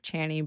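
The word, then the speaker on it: Chani: so for listeners if you haven't heard of channy before I'm a little shocked but it's spelled c h a n i so there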